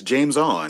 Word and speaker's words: Jameis: are you talking about jameis and curry no you've you've got it wrong it's only two syllables sir it's james on oh my god james